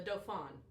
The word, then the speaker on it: dauphin: The Dauphin. That's how it's pronounced.